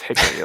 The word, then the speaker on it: Hikari: It's Hikari, like the wood.